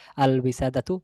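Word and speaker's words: الوسادة: আর এই যেহেতু শব্দের শুরুতে ওয়াও আসছে, আমরা বলছি আল ওয়ালাদু, ওয়াও থাকলে এটি হচ্ছে কামারিয়া বা লাম, লামটা হচ্ছে কামারিয়া বা লামটা উচ্চারণে আসে, তাহলে আল উইসাদাতু লামটা উচ্চারণে আসছে।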